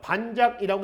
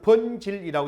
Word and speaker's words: 번질: 그 번질은 한자는 반작이라고 되어 있죠. 반작이라고 읽지 마세요. 이거는 이두문자입니다. 그래서 번질이라고 있습니다.